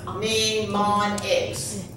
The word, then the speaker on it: mnemonics: So, mnemonics. How many sounds? Eight. Don't go mani. It's okay. Tell me a silent letter. This is silent, right?